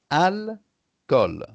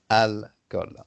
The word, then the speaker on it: alcool: En français, le mot alcool s'écrit comme ça, alcool, tu vois? Et donc, c'est deux syllabes, alcool. Mais en anglais, c'est un mot avec trois syllabes, alcohol, in English, alcohol.